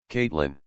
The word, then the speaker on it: Caitlin: If I say K-I-T-line, I know how to spell it, but here's how you say it. Caitlin.